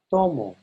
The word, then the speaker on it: tomo: Tomo. Notice that to is a little bit louder than mo.